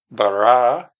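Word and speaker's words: ברא: words of the verse, Barah Elohim. And there you can see the vowels, the bet, the letter bet with the B sound with a kamat vow. So ba, ra bar, the olive is silent.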